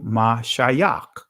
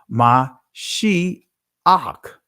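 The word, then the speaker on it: מָשִׁיחַ: or in ancient hebrew ma shayach right but ma shi ak that's how you pronounce it in the israeli language right but anyway so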